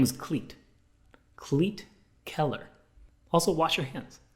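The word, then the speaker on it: Klete: a name like cleat his first name is cleat like this shoe but it's spelled so wrong k-l-e-t-e colleet what do you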